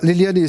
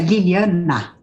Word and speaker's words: Liliana: Tá, doutora Liliane, aliás, antes de tudo, eu estou pronunciando o sobrenome da senhora corretamente, doutora, por gentileza? Sim, só que é Liliana.